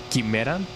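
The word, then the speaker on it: quimera: Yeah, in in Spanish we do say Kimera. So I I guess Chimera is is the most uh closest one to the Spanish pronunciation.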